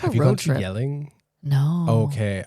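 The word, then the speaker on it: Jelling: Yelling? No. Okay. I won't say it right in the Danish way, but it's like the Yelling Stones where like that's great.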